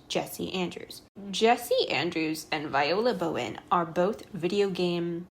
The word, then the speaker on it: Viola: the book and I was like, oh, it's Viola. The man is named Jesse. I remembered his name because I just looked at the sim that I named Jesse Andrews. Jesse Andrews and Viola Bowen are both video game developers.